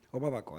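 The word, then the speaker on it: Obabakoak: It's in your book, Obaba Kwak. Obaba Kwak. Obaba Kwak. I pronounce it rightly? Obaba Kwak.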